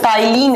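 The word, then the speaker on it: ptyalin: नाम होता है बच्चों टाइलिन अ माइलेज पी से लिखा जाता है टी से प्रोनाउंस किया जाता है राइट चलिए आगे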